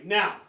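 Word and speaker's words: 너: it okay basic korea now i in korean is na you in korean is no just like no no same pronunciation but a little different spelling okay now what how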